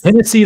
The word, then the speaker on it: Hennessy: Because Hennessy like Tennessee. That's actually the name of one of his albums. So it's spelled like Tennessee with an H. It's spelled like Tennessee, but with an H instead of a T.